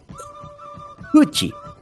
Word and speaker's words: huchi: Esta palabra es un poquito complicada de pronunciar, pero no imposible, es así. Huchi.